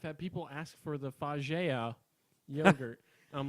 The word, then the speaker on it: FAGE: It's spelled F-A-G-E, but apparently on all of their cups it's pronounced Faye.